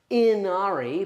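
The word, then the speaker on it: Ynnari: in the same way that uh it's technically pronounced Inari but I when why would you give it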